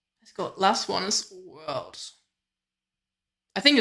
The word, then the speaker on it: _World: go last one is Worlds I think it's just pronounced world not underscore world but yeah let's check